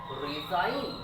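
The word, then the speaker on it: resign: দেখো কি লিখেছি দেখো যদি কোন শব্দের শেষে আই জি এন থাকে তার উচ্চারণ হবে আইন যে সাউন্ড উচ্চারণ উচ্চারিত হয় না যেমন ডিজাইন রিজাইন rail fail good six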